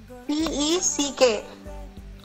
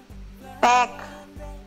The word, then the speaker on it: peck: P-E-C-K. How will you pronounce this word? Sorry? Pick, ma'am. Pack. It is P-E-C-K, pack. Peck. Peck. Yes. P-E-C-K. Write it down. P-E-C-K. Pronounce it as peck.